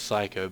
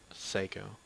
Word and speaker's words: Seiko: watched the anime before I thought it was Psycho but then the anime pronounces it Seiko psycho Seiko they were